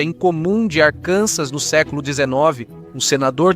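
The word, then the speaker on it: Arkansas: Ao contrário de outros estados, como Arcansas, número 49, pronuncia-se Arcansas, não arcansas, porque o nome vem da tribo Quapal, da região.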